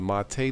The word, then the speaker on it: MATE: a look at the latest booboo to mates pronounced to go to Mattei the linux gold standard for beginners the flagship